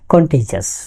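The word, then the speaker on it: contagious: কিন্তু বলা হচ্ছে ছোঁয়াচে, অনেকে বলে কন্টেজিয়াস, এর উচ্চারণটা কন্টেজিয়াস।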